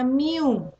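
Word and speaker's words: μ: Nah, inilah derajat keanggotaannya atau dilambangkan dengan lambang nih bacanya mu.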